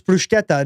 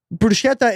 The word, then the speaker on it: bruschetta: Bruschetta is Italian.